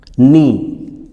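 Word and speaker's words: knee: देखो, के बाद एन आ रहा सब में, नी। नी यानी घुटना होता है ना, के एन डबल ई, नी। इसका उच्चारण हम क्या करेंगे, नी।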